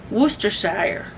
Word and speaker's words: Worcestershire: Google will tell you how to say it, but it's Worcestershire.